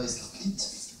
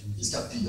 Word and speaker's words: Escarpit: Alors, je ne sais pas si on dit Robert Escarpi ou Robert Escarpite. Bon, hier, il y avait une prononciation. Escarpi, alors c'est définitivement Escarpi.